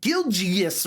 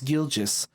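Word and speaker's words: Gilgeous: M middle name and I said gilgas or something weird like that when it's gilis Shay gilis Alexander leader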